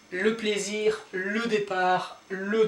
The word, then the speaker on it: départ: Then we have départ, don't pronounce the last letter, départ.